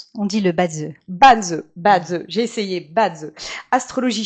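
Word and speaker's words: Bazi: Et parmi les autres outils que tu explores aujourd'hui, il y a aussi le Banzi, c'est comme ça qu'on prononce ? On dit le Badze.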